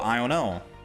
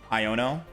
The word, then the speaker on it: Iono: Oh, Iono. That's how I say her name. Iono.